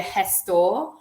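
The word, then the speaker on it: gestor: there's something called A Hess store um the G is pronounced like a like a h and that's like an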